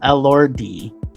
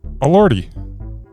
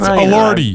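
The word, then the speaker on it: Elordi: How would you pronounce E L O R DI? Allorty, but I wouldn't sit there and I wouldn't sit there and stutter. All just a lordy.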